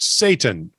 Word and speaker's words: seitan: As you know, vegan roasts are made with seitan, pronounced Satan, S-A-Y, T-A-N, but it looks like S-E-I-T-A-N. Well, that's how it's spelled. It's just pronounced Satan.